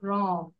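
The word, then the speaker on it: wrong: শোনো লিসেন সবাই শোনো ডবলিউ উচ্চারণটা এখানে হবে না এটা সাইলেন্ট থাকবে তাহলে আমরা কি বলবো রং আর রং আর রং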